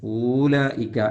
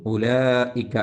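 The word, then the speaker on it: أُولَٰئِكَ: വാവ് ഉച്ചരിക്കാൻ പാടില്ലാത്തതാണ് എന്ന് ഊലായിക്ക എന്ന് എഴുതും ഉലായിക്ക എന്ന് വായിക്കും അതുപോലെ ഇവിടെ ഊലി എന്ന്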